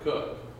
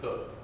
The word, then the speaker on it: Coke: Constitutional language is Edward cook yes I know it's spelled like we spell the word Coke for the thing we burn but they pronounced it cook he had a case